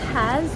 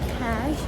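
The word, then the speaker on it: Kaş: City called Kaz, or Cash, as some people pronounce it.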